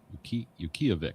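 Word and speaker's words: Utqiagvik: Yukiavik is the phonetic pronunciation.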